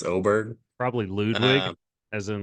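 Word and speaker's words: Åberg: It looks like Aberg, but it's Oberg.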